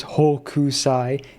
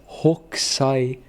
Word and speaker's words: Hokusai: pronounces her name as Hu usai it's hookai there's no you don't pronounce the U okay it's like hookai